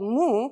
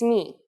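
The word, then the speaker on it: μι: You might have heard it called mu, but it's not how we say it in Greek. It's mi.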